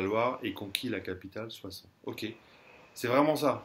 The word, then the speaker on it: Soissons: Au nord de la Loire et conquis la capitale Soissons. Ok. C'est vraiment ça. Il ne faut pas du tout entendre les N.